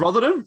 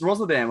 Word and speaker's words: Rotterdam: Rotherham? It's Rotterdam or something.